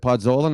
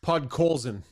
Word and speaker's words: Podkolzin: But the Oilers need a player like, is it Podkolzin? Is that how you say it? Podkolzin.